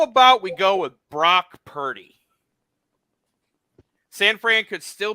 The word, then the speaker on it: Brock: Is it Brock? Yeah, like Brock. I must have heard it mispronounced. I thought it was Brooke Purdy. Oh, Brock. Like, I thought I had a U before the R.